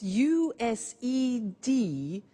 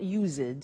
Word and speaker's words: used to: Look at the spelling s. It's it's u s e d and then t to o. But the pronunciation is not used. It's used. unusual used.